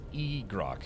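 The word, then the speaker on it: Igrok: So, Crutotoy is badass and pronounced uh crew toy and egro is gamer pronounced egro.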